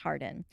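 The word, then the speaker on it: Hawarden: name being thomas harden spelled e h-a-w-a-r-d-e-n but pronounced hardin according to records thomas hardin was a dean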